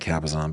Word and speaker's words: Cabazon: Oh, that's just painful saying Cabazon, but that's how they pronounce it.